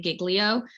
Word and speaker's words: Giglio: essentially what's called a jillio registry and we argued a lot about how to pronounce it some people say giglio and i tried to